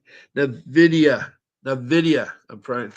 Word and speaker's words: Nvidia: N dividy the N the video Nvidia I'm trying to say it right it's a